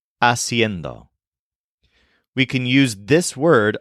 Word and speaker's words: haciendo: the jarand this is a pretty tricky word aend spelled h a c i n d o kind of like cendo but with an extra syllable aend we can use this